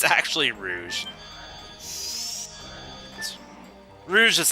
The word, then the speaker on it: Rouge: I remember for so many years I always pronounce Rouge as rogue I always called it rogue and I called hassles you know martial arts style I called it rogue style yeah it's actually Rouge Rouge is just like ro u GE and